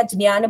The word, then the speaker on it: ज्ञान: आप ये मत सोचिएगा कि मैंने मिथ्या ज्ञान बोला तो आपको भी वही कहना है लेकिन एक्चुअल संस्कृत प्रोनाउंसिएशन उसका ज्य होता है।